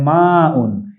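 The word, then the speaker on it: ماء: পানিকে আরবিতে বলা হয় মা উন এই যে মা উন এটি আইন নয় হামজা আমরা মাউন বলবো আচ্ছা মাতে একটু আলিফ আছে দেখে আমি এখানে একটু আইফেন দিয়েছি বাংলা উচ্চারণ মানে মাউন শব্দের অর্থ হচ্ছে পানি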